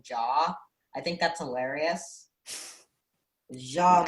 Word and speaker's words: Ja: I love how you pronounce it as Ja rather than Jaw.